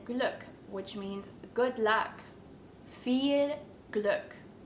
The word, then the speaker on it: Viel Glück: which means good luck feel Gluck feel good if you're struggling with